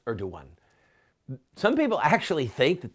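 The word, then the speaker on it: Erdoğan: This man, Tayyip Erdogan, some people pronounce it Erdogan, but I believe that the appropriate spelling is Erdogan.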